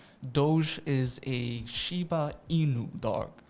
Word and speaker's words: Doge: So if somebody had 100 Doge, is that how you say it? Yes. Is that correct? That is the correct pronunciation?